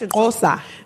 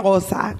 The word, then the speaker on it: Xhosa: Yeah, it's like TSK, I think is the letter.